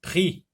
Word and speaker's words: prix: Prix, X est une lettre muette.